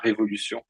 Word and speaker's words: révolution: And by the way, the word is la révolution. Pronounced properly.